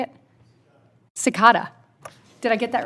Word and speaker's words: Cekada: Cekada. Did I get that right? Yeah, Cekada? Yes, Cekada, yes, ma'am.